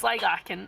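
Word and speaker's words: Sligachan: Found a way to pronounce it. Right, so it's Sligachen and we're on our way there now.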